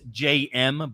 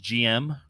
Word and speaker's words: JM: It's JM, but in French it would be pronounced GM. But in English, we would say JM.